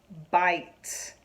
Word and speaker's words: bite: and the T, bit, but I add that silent E to the end, that silent E is going to make I, instead of saying it, it's going to change it to saying I. So it's going to go from b-it to b-I-t, bite, bite.